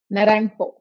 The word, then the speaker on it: Naranjo: How do you say your last name? Naranho. Naranho. Is that somewhat right?